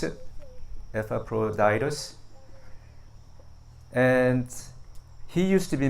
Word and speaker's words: Epaphroditus: So today we are talking about Epaphroditus. That's how you pronounce it. Epaphroditus.